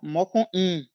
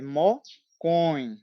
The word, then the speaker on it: mocõe: Eu estou ouvindo pronúncias que falam mocoim, mocoí. É mocoin, né? Mocoin.